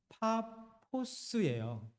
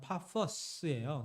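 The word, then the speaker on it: Πάφος: 여기 헬라어 발음은 파포스예요. 조금 더 정확하면 파퍼스예요.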